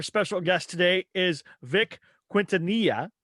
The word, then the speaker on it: Quintanilla: Well, you're supposed to pronounce it, I guess, Quintanilla, but to me, it's just as silly to do that.